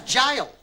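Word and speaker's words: gaol: England's goal this doesn't even rhyme herb it's jail but it's spell with a G it's pronounced J as in Gus H Christ she's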